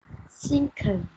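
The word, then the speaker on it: cinquain: Can you say sinking? Sinking. Very good. Sinking. Oh, this one. You pronounce this word as sinking, okay?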